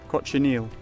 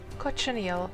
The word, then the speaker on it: cochineal: How do you pronounce this? Cochineal. Cochineal.